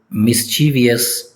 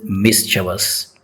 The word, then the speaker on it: mischievous: It is commonly pronounced as mischievous but its correct pronunciation is mischievous. Mischievous. For example, she has a mischievous smile.